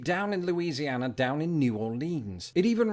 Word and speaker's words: New Orleans: or something like that New Orleans meanwhile I'm reliably informed that the even shorter option of New Orleans isn't usually spoken by residents themselves but is what tourists think residents say it's sort of like